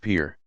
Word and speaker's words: pir: Also generally bear the title of sheikh or its Persian equivalent, pir, pronounced pir.